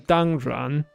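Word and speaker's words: 当然: 当 yan. That's the modern 当然. And in Middle Chinese, that R sound didn't exist. That came later.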